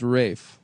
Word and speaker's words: Ralph: Uh, but it is pronounced Rafe.